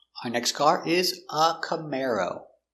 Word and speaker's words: Camaro: C-C m come air cam cam camar o camaro camaro stress on the second syllable.